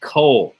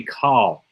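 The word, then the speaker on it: כל: now you might think why are you pronouncing that Cole it should be call um anytime you see this word it's always pronounced with an o sound and you'll notice there's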